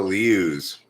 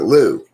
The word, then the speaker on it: Liu: I pronounce it Liu because that's what it looks like, but I think they might just pronounce it Lou. You know, they might just leave out the I, even though it's right there for anybody to see.